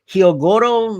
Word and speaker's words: Hyogoro: They have the plan with Hyogoro, again, that's how you pronounce his name, which that was also